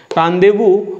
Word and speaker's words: rendezvous: Rendezvous, yeah, it is pronounced as rendezvous, hideouts or whereabouts.